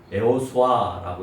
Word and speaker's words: 여호수아: 일에 대한 설명을 오늘 여호수아를 통해서 하고 있다라고 하는 거예요. 여호수아는 히브리어로 에호바라고 합니다. 또 다른 말로 하면 에호수아라고 얘기합니다. 여호수아하고 비슷한 발음이죠.